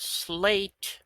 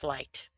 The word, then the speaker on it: sleight: You know, there's something that I've been wondering, and that's why something that is spelled slate of hand is pronounced slight.